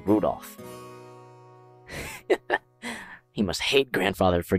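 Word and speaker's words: Rudolf: just this anyway this guy's name is pronounced Rudolph he must hate grandfather for giving him that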